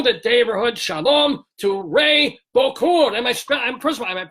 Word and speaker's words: Bokhour: So first of all, first and foremost, we want to welcome to the Daverhood, shalom, to Ray Bokhour. First of all, am I pronouncing that?